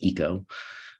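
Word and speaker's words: ICO: the International Correspondance Ouvrière, which I've learned to pronounce as ECO, thanks to Paul.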